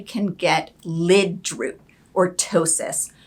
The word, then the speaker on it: ptosis: get lid root or ptosis starting with the p silent p ptosis for and that's a